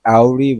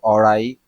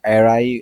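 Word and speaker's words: awry: এটাকে আমি ভুল করে আওরি বলে ফেলি। কিন্তু অরাই বা এরাই আমরা উচ্চারণ করব।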